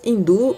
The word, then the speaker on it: hindu: as palavras hindu e hinduísmo São escritas com h e como na língua portuguesa essa letra não tem valor fonético ela não é pronunciada para entender melhor a